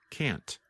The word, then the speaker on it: can't: And if you are speaking and want to be very clear, simply pronounce the letter T, like can't.